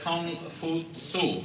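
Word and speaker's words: K'ung Fu-tzu: Started out by a man named Kung Fu Tzu, and he's just pronounced Confucius by people who don't want to bother saying that name in its original pronunciation.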